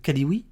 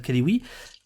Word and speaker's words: Kalioui: Je prononce bien votre nom, c'est Kalioui, c'est ça? C'est ça, c'est exactement ça. Kalioui.